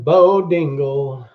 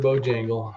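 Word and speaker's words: Bojangles: Mr. Bo Dingle. Mr. Bo Dangle. I know I'm not saying it right. It's Mr. Bojangle.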